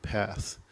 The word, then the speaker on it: Perth: Perth Western Australia and they pronounce it path there's no ours like shock not shark it's a shock so it's path but anyway I've went